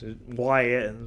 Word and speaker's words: Ys: YS, written YS. Yeah, there it goes. Wanderers from Ys, pronounced E-A-S-E.